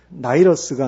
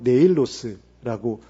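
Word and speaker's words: Νεῖλος: 그리고 더 정확한 발음은 나이러스가 아니고 네일로스라고 되어 있더라고요.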